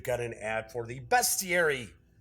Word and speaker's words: bestiary: an ad for the best thierry or as some people say be Siri but he's calling a bestiary and people would comment on my video saying you're not pronouncing it right man it's best Thierry so that is the